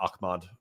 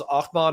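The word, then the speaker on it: Ahmaud: It's not Akmad. I I'm overp pronouncing it. Akmad Arbory killing was okay. He doesn't know anything. Uh, which one was Ahmad Arbory?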